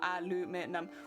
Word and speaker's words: aluminum: because then you know because it spelt different you would pronounce it differently yeah yeah yeah but